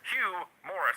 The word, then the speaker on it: Hugh Morris: Tony always pronounces it humorous. He always. Always. It clearly says Hugh Morris, and I get the joke. But he never even calls him Morris or No, Hugh.